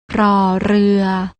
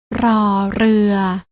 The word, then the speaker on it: ร: ชัด เจน ได้ แก่ พยัญชนะ ตัว แรก น้อง ๆ ต้อง อ่าน ออก เสียง โดย การ กระดก ลิ้น อย่าง นี้ ค่ะ รอ เรือ ส่วน พยัญชนะ ตัว ที่